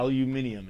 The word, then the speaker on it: aluminium: Aluminum producer. Aluminum. Yeah. Aluminium is how it's pronounced actually. It's how the British say it.